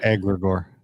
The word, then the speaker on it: egregore: Egregore.